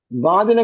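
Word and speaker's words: ض: പിന്നെ ദ്വാദ് പറയുമ്പോ മഖ്റജ് എവിടെയാണ്? നാക്ക് എവിടെയാണ് തുറന്നത്? അണപ്പല്ലിന്റെ ഉൾഭിത്തി. അപ്പം അണപ്പല്ലിലാണ് ഇവിടെ ഉള്ളത് അല്ലെ, അല്ലാതെ മുൻപല്ലിലല്ല. ലോ എന്നല്ല പറയുന്നത്.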